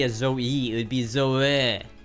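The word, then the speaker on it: Zoë: In French, they indicate each vowel should be pronounced separately rather than diphthong. For example, zo-e.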